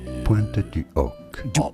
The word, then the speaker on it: Pointe du Hoc: It is said in French as Pointe du Hoc. Pointe du Hoc. Silent H as always in French.